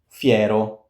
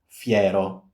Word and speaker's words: fiero: Fiero. Fiero. Not Fiero. Fiero. Fiero F. Not E. No, it's the in between.